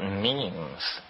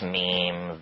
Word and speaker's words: meme: but last year, about memes. You know what memes are? Memes are the smallest units of a concept. And they're like genes. The word is deliberately constructed to rhyme with gene.